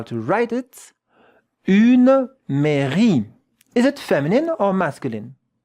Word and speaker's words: mairie: Une mairie. Et maintenant, regardez la prononciation. Look at how to pronounce it. Mairie. Mairie. With that French R.